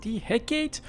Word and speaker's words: Hecate: today's video is with DHEC 8 or heck ET it's got a lot of different pronunciations another tech-tree destroyers this